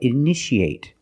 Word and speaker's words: initiate: You see T-I-A. How do we pronounce it? That's right, shh, shh. So how do we pronounce this word? That's right, initiate.